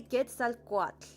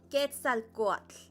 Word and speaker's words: Quetzalcoatl: Like if I say Quetzalcoatl. Did you guys hear that? Quetzalcoatl.